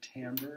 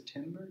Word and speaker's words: timbre: Timbre is another one we have. That's a French word. It looks like it says timbre, T-I-M-B-R-E, but it's actually pronounced timbre, and in French it means color.